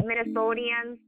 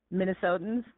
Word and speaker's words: Minnesotans: What, Minnesotians? How do you say that? Minnesotans.